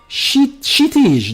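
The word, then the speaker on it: Kshitij: K is silent in my name. Oh, so it's Shitij the gamer.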